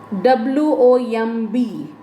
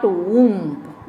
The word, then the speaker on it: womb: sons of my stricken womb now w o m b that is the spelling but the pronunciation is not whomp because the letter b here remains silent so it is womb